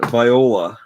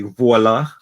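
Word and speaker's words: voilà: in their ear and viola which is really voila what's the french word that everyone says the americans are always always say it and it drives me crazy they say it wrong oh they say they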